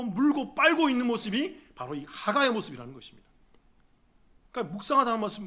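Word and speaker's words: הגה: 히브리어로 따라해 보겠습니다 여러분 이게 좀 발음이 중요해요 이게 목젖을 떨어야 돼요 자기 공부를 해 보니까 그렇게 발음해야 되더라고요 자기가 해볼때 따라 한번 해 보세요 하가 다시 한번 더이 목젖을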